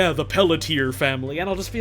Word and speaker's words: Pelletier: People read Pelletier as Pelletier? Yeah, because it's spelled P-E-L-L-E-T-I-E-R. And so they read that and they're like, oh yeah, Pelletier.